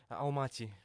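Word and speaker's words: Almaty: then the second City remind me how you pronounce it Al mati almati okay aana almati the top two cities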